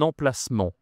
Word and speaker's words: emplacement: On peut dire aussi un emplacement. Alors attention ici tu as deux nasales 1 emplacement en fait. Il y a en ici et il y a ici.